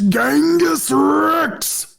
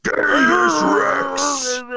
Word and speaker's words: Genghis Rex: It's Genghis Rex. Genghis Rex.